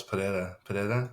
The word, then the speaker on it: Pereira: No, it's Pereira. Oh, Pereira. Yeah, there you go. Yeah, Pereira.